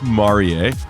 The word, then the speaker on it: Marie: Yes, it's pronounced Marier.